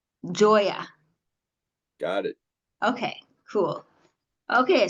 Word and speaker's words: Gioia: spelled a little different Joya it's a funky spelling it's a sicilian spelling so it's it is a little different g i o i a correct Joya got it okay cool